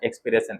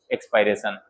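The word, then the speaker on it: expiration: एक्सपायरेशन या एक्सपिरेशन। एक्सपिरेशन एक्सपायरेशन pronounce करेंगे, क्या बोलेंगे? एक्सपायरेशन।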